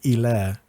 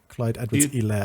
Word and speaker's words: Clyde Edwards-Helaire: It's a silent H, and it's Helaire. Clyde Edwards-Helaire.